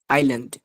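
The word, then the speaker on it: island: এখানে আরটা উচ্চারিত হবে এখানে এস উচ্চারিত হবে না বুঝছেন এসটা সাইলেন্ট এসটা এখানে সাইলেন্ট তাহলে এটা কি হবে আইল্যান্ড হবে না এটা কি হবে আইল্যান্ড আইল্যান্ড এখানে এখানে এসটা সাইলেন্ট থাকবে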